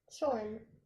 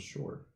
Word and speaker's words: Shorn: Shorn. I thought it was short. No, with an N. I thought it just There is an R. N, although he almost never says it.